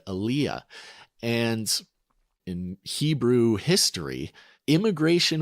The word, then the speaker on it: aliyah: a word for it the word is and excuse my pronunciation again alyah a l i y a it's a Hebrew word Aaliyah and in Hebrew history